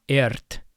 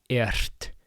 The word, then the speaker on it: ert: but for right now, just know r before a t is devoiced, so it's not ert, but ert. You just breathe out. You exhale as you roll your r.